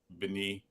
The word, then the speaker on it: Bieniemy: I'm trying to get Eric Bini. That's how you pronounce his name.